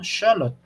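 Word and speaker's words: Xolotl: de es que es se escribe con x pero se pronuncia sh no Shot entonces fíjense aquí se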